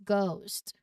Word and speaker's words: ghost: Next is ghost. Very simple. Very obvious. Letter H.